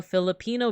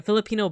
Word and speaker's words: Filipino: I am also a Philippino be or sorry a Filipino be American there you go I needed to stress the right syllable I'm Filipino but I'm